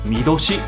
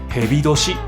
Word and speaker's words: 巳年: Năm con rắn đọc là MI DOSHI hoặc là HEBI DOSHI. Cách đọc âm On của chữ Tỵ là SHI âm Kun là MI Tuy vậy, dù sống